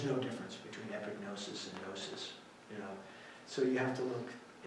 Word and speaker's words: gnosis: Another one is gnosis, spelled, there's a silent letter, gnosis.